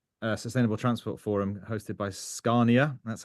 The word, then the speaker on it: Scania: And then I'm blessed also to be in Stockholm today at the Sustainable Transport Forum hosted by Scania. That's how you pronounce it.